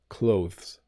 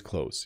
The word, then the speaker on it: clothes: are in Britain though if you are learning a British pronunciation you do hit the th a little bit clothes I I don't never do it's always clothes you know uh I have to wash my clothes I have to do the laundry I have to hang up my clothes after I wash them the th sound is not pronounced when I say this word need sometimes we have